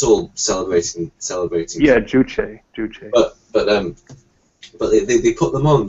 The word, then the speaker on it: Juche: I mean, of course, they're all like, how is it pronounced? Jewish type. It's all celebrating. Yeah, Juche.